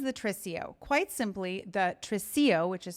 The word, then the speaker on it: tresillo: In this tutorial, I'm going to teach you how to sing and play the tresillo rhythm on piano.